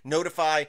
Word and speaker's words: ntfy: Notify, SH, notify. So the website here is ntfy.sh, but it's pronounced notify.